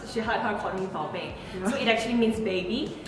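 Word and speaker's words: 宝贝: So she wanted to learn, but she pronounced it as Bao Bei. So Bao Bei means baby and Bao Bei means scallop, like the seafood scallop. So slight difference, but big difference in the meaning.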